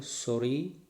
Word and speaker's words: sorry: double r for example s o double r y sorry letter is double sound is single don't say sorry okay c-a-r-r-y carry and